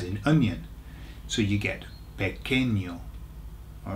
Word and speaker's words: pequeño: The reason is because when you get a QU in Spanish, you don't say qu, you say k, k. Okay, so it's just like a K sound.